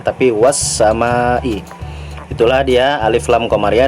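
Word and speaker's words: والسماء: yang huruf Sin ya karena dia huruf Syamsiah make langsung dimasukkan wash sama Ih bukan walsama tapi wash sama ih itulah dia alif lam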